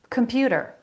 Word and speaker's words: computer: Computer. Computer. They're all saying that with a flap. Computer, a flap instead of t, a t sound. Computer. Computer. Middle syllable stress.